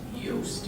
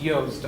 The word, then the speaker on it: Yost: My last name is pronounced Yost. Yost. Oh, I And apologize. You don't need me. It's all good. It's a common mistake.